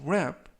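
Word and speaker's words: wrap: 뜻이 되겠습니다라고 하시면 되겠고요 이때 맨 앞에 있는는 는 무음이라 이번 단어에서는 발음이 되지 않습니다 품사는 동사 뜻은 포장하다라는 뜻을 가지고 있고요 활용 문장 보시겠습니다 Please wap 포장해 주세요 this gift이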